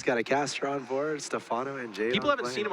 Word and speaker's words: Stephano: lone star class three that is the right way to say it he is Stefano I love that with